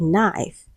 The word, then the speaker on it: knife: Option C we have knife. So K is silent. Letter K is silent. It is N.